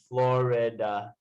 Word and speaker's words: Florida: say it like flower. Florida. Florida. Yeah. I am from Florida, or I am from Florida.